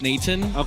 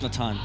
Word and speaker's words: Nathan: They say officially it's Nathan, but the actual name is Natan. Yeah. In the Phil, if you're from the Philippines, it's Nathan.